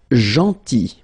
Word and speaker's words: gentil: Then, gentil. So remember this final L is not pronounced.